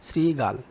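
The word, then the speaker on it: শৃগাল: সঠিক উচ্চারণ রূপ কোনটি এখানে তালবস কে আমরা দন্তস আকারে উচ্চারণ করতে পারলেই বুঝতে পারবো এটার উত্তর হবে গ নাম্বার শ্রীগাল কোন শব্দটিতে এ বর্ণের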